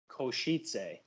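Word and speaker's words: Košice: So it's HC Kosice. Kosice. Oh, that sounds exotic. I love it. Oh, that's awesome. My man. fiance is correcting me. What is it? Kosice.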